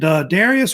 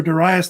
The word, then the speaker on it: Darius: And Darius or Darius the Great, it's usually pronounced either way, was not directly related to like Cyrus the Great.